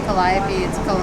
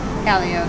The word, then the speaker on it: Calliope: one babe charters yeah some people say Calliope it looks like Calliope but it's Calio guys so hey I've